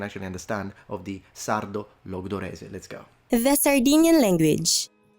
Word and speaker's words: Logudorese: But today we're talking about the northern, or one of the northern varieties, which is called Sardo Logudorese. Did I pronounce that right?